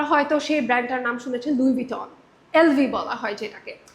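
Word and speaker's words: Louis Vuitton: পারে, সে পড়ার পর লুইস ভিটন যেভাবে লেখা আছে সে ওইভাবে জিনিসটাকে প্রোনাউন্স করছে, কিন্তু তার কখনো শোনার সুযোগ হয়নি। সে যদি শুনতে পারতো যে এটা লুইস ভুটন না, এটা লুই ভিটন, সে অবশ্যই এটা ক্লিয়ারলি বলতে পারতো।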